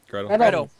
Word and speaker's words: Gretel: let me see if I get this right, Gretel? Is that how you say it? Yeah, Gretel.